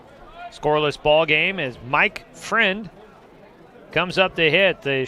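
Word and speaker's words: Freund: ball game as mike friend comes up to hit the shortstop spelled f-r-e-u-n-d but i was told it's pronounced friend fouls off the first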